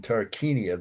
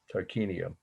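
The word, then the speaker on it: Tarquinia: tomb of the lionesses and this is in tarkania that that's the actual city i got to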